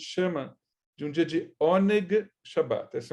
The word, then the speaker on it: Oneg: de um dia de Oneg Shabat. Essa é uma outra expressão, hoje não muito comum em muitos lugares, mas Oneg, se fosse escrever em português, seria O-N-E-G, Oneg Shabat.